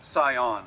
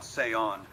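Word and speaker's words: Zion: stay on seion haha it's pronounced saion not seon but honestly who cares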